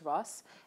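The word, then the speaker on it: rusk: cake russ which is spelt as r-u-s-k but the k is silent it's just ross and you're supposed to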